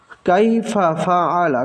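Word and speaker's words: كَيْفَ فَعَلَ: এই উচ্চারণটা ভুল, কারণ এই ফাটা হলো আগের শব্দের সাথে, কাইফা এক শব্দ আর ফা আলা আর এক শব্দ।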